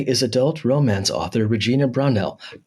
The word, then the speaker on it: Brownell: romance author Regina brell did I say your last name right you did you did you're like one of the first people to actually say my name right I got it it's usually brownwell oh okay that's what everybody says okay I'm not going